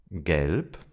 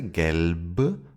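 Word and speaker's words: gelb: Let's start with the letter B. Gelp. Yellow. We don't say galp, but gelp. The final B sounds like a P.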